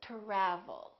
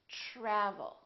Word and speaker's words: travel: try try so the T are together make this sound almost like a CH are almost like but it's a softer one it's to try try so let's look at some words that are spelled with TR try travel we don't say travel or travel we say travel tradition tradition let's try